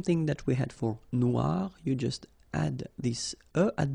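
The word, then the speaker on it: noire: it's quite funny because you will have to add this uh at the end of noir for the feminine form but then you don't pronounce it okay so phonetically it is exactly the same noir noir okay gri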